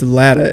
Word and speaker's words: Latta: It's Latta, L-A-T-T-A.